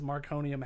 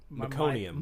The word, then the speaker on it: meconium: Well, see, and that's the thing is, like, in the field, I think I'm pronouncing that wrong. Meconium. Meconium, yeah. meconium. I Yeah, always want to say mycelium.